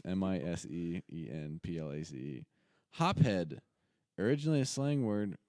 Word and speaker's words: mise en place: It might be mise, but with N in it, I'm pronouncing it like you would in Latin, is mise in place. Mise in place. MISEENPLACE.